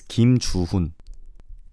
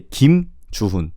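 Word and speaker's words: 김주훈: Well, in Korean, there is no space. So you could just say without stopping. You don't have to say Kim Chuhun. You could just say Kim Chuhun. Does that make sense? You don't have to necessarily make an additional stop after the last name.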